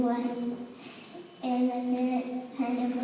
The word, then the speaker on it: Wurst: There are over 1,000 types of sausages in Germany, and this is how you say it in German. Wurst.